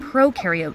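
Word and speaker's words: prokaryote: intro to cells video when you think of pro carote think of pro rhyming with no no nucleus no membran bound organ OTS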